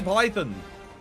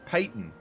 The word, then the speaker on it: Truly Payton: No, it's Truly Payton. Sorry, not Python. Don't know why I read that as Python.